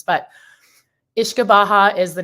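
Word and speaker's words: uisce beatha: I'm not the best always with the gaic pronunciations but ish kabaha is the name of the distillate they were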